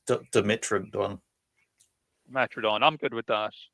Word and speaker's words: Dimetrodon: The way we would say it was Dimetrodon.